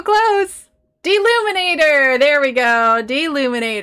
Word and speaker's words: Deluminator: deluminator there we go deluminator that's right it's not the illuminator d luminate things that turns thing